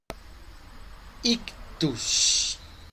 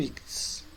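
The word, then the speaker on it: ἰχθύς: É a palavra ictus ou ictis, né? As duas pronúncias são possíveis, pode ser ictis ou ictus. Prefiro ictis.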